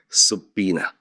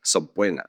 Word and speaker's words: subpoena: The original Latin pronunciation is subpoena subpoena. But most lawyers now pronounce it using the Anglicized pronunciation subpoena subpoena with a silent b.